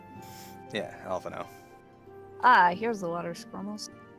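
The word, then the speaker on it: Alphinaud: Alright, here's Alphino. This place is phased. Always sounds like you say alpha no. I do, because you don't pronounce the D.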